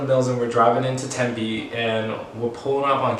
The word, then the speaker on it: Tempe: uber and i take that uber over to tempe or temp was what i thought it was